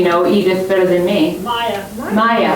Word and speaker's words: Maja: Maya. Maya.